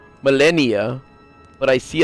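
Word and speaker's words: Malenia: She is Melania, which is pronounced Melennia, but I see how they pronounce it different.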